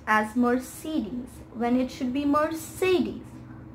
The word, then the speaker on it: Mercedes: cds so i was quite disappointed but it's mercedes more cities so the next brand is this